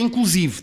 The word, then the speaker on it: inclusive: Trata-se de uma palavra latina, como em latim, sem acento, sinónima de inclusivamente, embora em geral a pronúncia seja com E aberto, a palavra é grave com a sílaba tónica em si, inclusive. Pode ser pronunciada com o E final fechado, como em cabide, ou aberto, como em café.